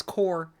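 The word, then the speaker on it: corps: But digital analysis laboratory links corp. Corp. It's core. Core. You don't pronounce the P.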